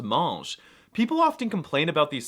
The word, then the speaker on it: mange: And if I want to say you, he, she, it, or they eat, the verb spelling does change, but they're all still pronounced mange.